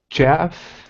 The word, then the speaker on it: chef: Chef. Okay, a chef. So Chef. the ch is not very hard. It's not it's it's a chef.